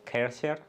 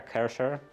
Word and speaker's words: Kärcher: Like Kärcher, for example, or Kärcher is, I believe, the proper pronunciation, proper German pronunciation.